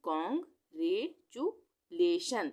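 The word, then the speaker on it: congratulation: और LATION लेशन, ये लिखा है मैंने लेशन, यानी कॉन्ग रे चू लेशन।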